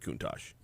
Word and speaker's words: Countach: Okay, there's some debate as to how it's pronounced, but I've always said Countach.